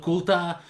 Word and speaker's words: Qultah: to show you it is called merchants of kuta and I know I am notoriously bad at pronouncing the names of some games correctly but